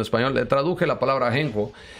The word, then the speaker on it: ajenjo: Okay, in Spanish it's called Ajenjo. It's spelled with JJ. It's a Ajenjo.